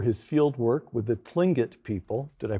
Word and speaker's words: Tlingit: chicago noted for his field work with the tlingit people did i pronounce that correctly yes got it the plinget